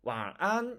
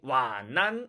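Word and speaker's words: 晚安: 이렇게 씁니다 와아 안 그런데 많은 항 사람이 완 난 이렇게 바르며 와 난 네 우아한 거하고 안 나는 어디에서 뛰어 읽느냐 다르죠 사실 많은 한국분들은 완 난이라고 떼어 입지 않고 이어서 있죠 우리말의 이어 읽기 처럼 연음 처럼 그렇게 발음합니다 그렇게 바르면 당연히 안됩니다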